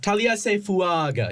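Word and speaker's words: Taliese Fuaga: Ryan pronounced this great, but it's Taliesin Fuaga. Taliesin Fuaga here from the Oregon State. He's like it's Taliesin Fuaga. You gotta say it like an Italian.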